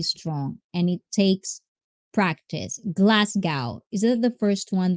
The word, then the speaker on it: Glasgow: to be mentally strong and it takes practice glasgow is that the first one that i that i pronounce is that the one i think i